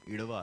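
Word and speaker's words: Ezhava: उस कम्युनिटी का नाम इड़वा है। The spelling is ई जेड एच वी ए डी ए the pronunciation is इड़वा। तो इड़वा समाज की महिलाएं थी।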